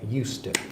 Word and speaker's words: used to: but notice also that the pronunciation changes slightly so the D disappears and this is more like us to it's like you use